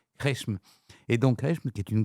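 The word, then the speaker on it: Qeshm: Alors c'est difficile à prononcer Q U E S M Resm.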